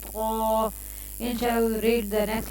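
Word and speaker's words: ت: The tip of the tongue will gently touch the heel behind the upper front teeth.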